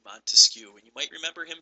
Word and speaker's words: Montesquieu: A good way to remember this is Baron de Montesquieu is three different words, or even Montesquieu is three syllables.